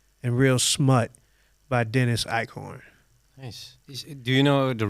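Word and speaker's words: Eichhorn: hit eBay to find them again the names icorn uh well I'll spell it with the English fows e i c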